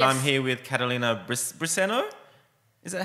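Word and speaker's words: Briceño: do you pronounce it we say listen yes it's in Spanish but in English they call me everything yeah but you know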